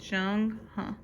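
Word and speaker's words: Zheng He: So that's how you pronounce it, Jung Huh.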